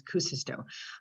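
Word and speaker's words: Kuusisto: acoustico is um and it's actually k-u-u-s-i-s-t-o so i always want to stick an extra you in there so forgive me if i do but i heard him pronounce it myself and as kucisto um so he is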